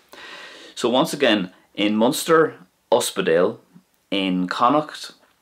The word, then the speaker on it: ospidéal: Now this can be used in any of the dialects, but it's more commonly used in Munster, Uspedale. In Connacht, you would more than likely hear it being pronounced like this, Aspigal, Aspigal.